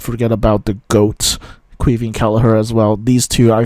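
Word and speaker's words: Caoimhín: is either Keieven or Que and he himself pronounces it quee. And that's also what you hear um in the it's all on this from Keller from the commentary he says Queah.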